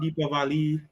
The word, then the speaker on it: Deepavali: Well, you can say Diwali, Diwali, Deepavali. It's different ways.